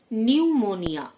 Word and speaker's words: pneumonia: নিউমোনিয়া, P silent, PNEUMONIA, নিউমোনিয়া, মানে ফুসফুস ঘটিত অসুখ।